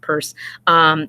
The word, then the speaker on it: Peirce: more modern term people purse looks like Peirce but it's pronounced purse coins the term pragmatism